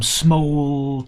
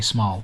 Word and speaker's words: smol: It went from smole to swole. I know some people say small, but if you want the rhyme to work, you have to say smole.